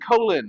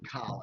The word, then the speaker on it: Colin: Why are they pronouncing it? Why are you calling it Colon?